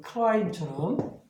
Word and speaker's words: climb: 이렇게 아까처럼 climb처럼 얘가 묵음이 된단 말이에요.